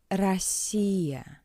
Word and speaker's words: Россия: In an unstressed position, the letter O is read as a weak A. Россия, Россия.